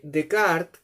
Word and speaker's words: Descartes: Entonces, el filósofo Decart, descartes se escribe en francés.